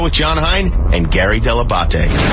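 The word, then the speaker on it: Dell'Abate: with John Heat is a heat and Gary Debate. I love when everyone pronounces it wrong. Hey, it's Jimmy Kimmel. You're listening to the wrap-up show with John Hine and Gary Deabate.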